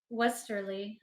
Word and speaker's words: Westerly: Wells Wells tiller no you said it right Westerly Westerly but it's it but that says different